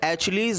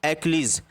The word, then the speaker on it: Achilles: जैसा कि आप स्क्रीन पे देख रहे हैं, ये एक तरह का नाउन है और उसका जो प्रोनाउंसिएशन है एचलीज मत पढ़ना, क्या पढ़ना आप, एक्लीज, जिसका मतलब है अ